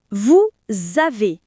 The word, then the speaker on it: vous avez: Vous avez Non, on dit vous avez. Le s à la fin de vous se connecte avec le A de Av.